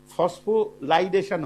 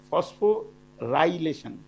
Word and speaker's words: ফসফোরাইলেশন: কারণ হচ্ছে আমি যখন মুখে উচ্চারণ করি তখন সেটা ফসফোলাইডেশন হয়ে যায়, কিন্তু আসল উচ্চারণটা ফসফোরাইলেশন। তো সেই ফসফোরাইলেশনের প্রসেসটার মধ্যে